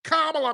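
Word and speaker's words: Kamala: gonna do no better pronounce her goddamn name right dude it's KLA man you pronounce her freaking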